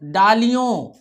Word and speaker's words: डालियों: सताती, डालियों, ठीक है, ना का उच्चारण भी होगा, ठीक है, डालियों।